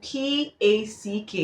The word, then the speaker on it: pack: P-A-R-K is pronounced park, and P-A-C-K is pronounced pack.